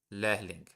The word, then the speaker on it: Lehrling: Lehrling. You don't really have to pronounce the H.